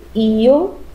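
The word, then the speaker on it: yo: temos o pronome eu em espanhol como se escreve com y o né ea sua pronúncia pode ser io né colocando a tônica do i old o apronta conspiração ter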